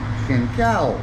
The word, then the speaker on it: แก่นแก้ว: แก่นแก้ว Kengkao.